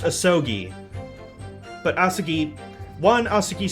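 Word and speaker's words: Asogi: judge uh apparently apparently the name is pronounced ahsogi but asaki one asuki sounds to me it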